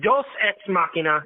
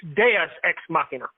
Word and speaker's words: deus ex machina: it wrong what's that it's not dos x machina it's deus ex machina so it's not spanish so a bill you're saying it wrong yeah yeah it's latin so we're both saying